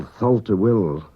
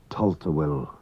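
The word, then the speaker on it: Tholt-y-Will: Manx TH is pronounced like T. What we call Tholta Will is really pronounced in Manx Gaelic Tolta Will.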